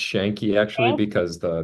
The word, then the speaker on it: Yanqui: totally sure well uh shanki and it's pronounced shanki actually because the that's Argentine way of doing it like they do the